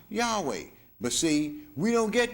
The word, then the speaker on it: Yahweh: with those four consuls y HWH which is pronounced Yahweh but see we don't get this in church